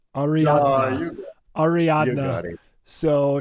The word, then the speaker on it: Ariadna: I'm gonna get the name wrong. I gotta look it up. Hold on, it's Ariadna.